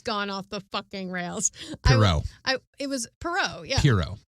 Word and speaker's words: Pierrot: character was so popular that he created this Poirot or Pierrot or Poirot. That's the best you've ever pronounced his name. It's Pierrot, there's not pirate, but the pirate clown.